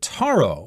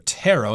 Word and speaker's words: taro: flavors like matcha and Taro or tarot you could pronounce that both ways and of course here